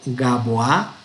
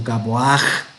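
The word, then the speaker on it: גבוה: Y si vamos a decir, no vamos a ir Gaboa, sino Gaboaj.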